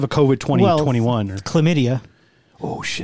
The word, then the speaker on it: chlamydia: code with 20 21 chlamydia oh that's three by the way there's an h yeah but it's ch it starts with a c it's a silent h is it hc it's